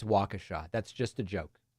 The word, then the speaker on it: Waukesha: waukesh I don't I don't actually think it's pronounced wakrisha uh that was a joke I know it's Waukesha that's just a joke it's just a joke